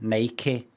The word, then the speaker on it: Nike: ones for other places nck one syllable I've always said nck that's a how we said that where I grew up when I grew up where I grew up Nik and Adidas no Nike and Adidas or pora that's s